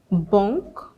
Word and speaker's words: banque: When you see AN, EN, ON, UN, now they're usually pronounced the same way. Banque, centre, bonjour, brun.